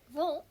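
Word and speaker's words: Wundt: This part is pronounced von.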